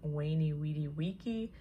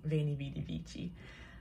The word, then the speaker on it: Veni Vidi Vici: Fun fact, actually, the correct Latin pronunciation would have been Veni Vidi Vici, but I'm going with a more modern pronunciation, Veni Vidi Vici.